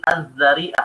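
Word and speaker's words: الذريعة: Azzariah ini pakai dza ya setelah setelah huruf dal huruf dza. Jadi azzariah cara bacanya.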